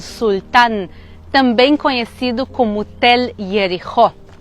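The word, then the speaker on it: יריחו: Jericó em hebraico se pronuncia Yericho, e ela pode significar ou a cidade perfumada ou a cidade da lua, já que em hebraico Yarer significa lua.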